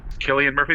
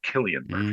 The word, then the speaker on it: Cillian Murphy: Cillian Murphy, because I believe it is pronounced Killian Murphy.